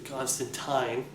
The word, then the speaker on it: Constantine: of those other people that you mentioned or Constantine that's the proper way to pronounce it right um for favorites I don't